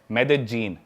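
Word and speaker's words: Medellín: उसकी एक सिटी है मेदजीन स्पेलिंग में उसमें डबल एल आता है मेदलीन होता है लेकिन कोलंबियन स्पैनिश में ल को ज बोलते हैं तो मेदजीन वो शायद उसकी मेन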